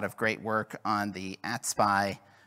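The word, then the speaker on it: AT-SPI: provider interface or atpi which I will pronounce as atpy for brevity atpy was first implemented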